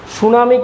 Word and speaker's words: tsunami: সুনামি কিন্তু টিটা উজ্য থাকে। সুনামিতে টি উজ্য থাকে। সুনামির স্পেলিংটা দেখে নাও। টিটা উচ্চারণ করা হয় না।